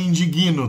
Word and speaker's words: indigno: Como é que você escreve indigno? Se o G na grafia tá grudado com N. Onde cai a sílaba tônica? Né? Indigno, tem que colocar o I ali no meio.